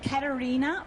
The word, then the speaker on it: Caterina: so I'm Italian and it's Katarina with a c because there's no K in the Italian language and it's that's